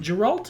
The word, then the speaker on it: Geralt: with a guerrilla um geralt is it it's a soft g i always forget because